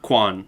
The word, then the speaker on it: Quan: Quan? Kwan.